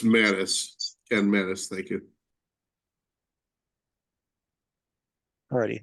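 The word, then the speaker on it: Mattes: Pronounced Mattis, Ken Mattis, thank you.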